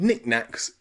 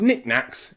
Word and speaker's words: knickknack: small things knicknacks okay knicknacks has a silent k at the beginning and then a CK and then another silent k and then another CK nicknack knickknack okay and when we say it really quickly it sounds like this knickknack knick-knack the CK in the middle becomes reduced it's not nicknack it's